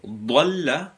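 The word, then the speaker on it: ضلّ: So, Dalla with a Dad means to go astray, gone astray. Whereas Zalla with a Z means to fell into error or fault. So it's very important to make sure that we pronounce them well.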